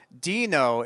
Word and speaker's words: Deno: And in fact, Deno is the syllables of Node backwards.